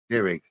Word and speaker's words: Dirig: Derig.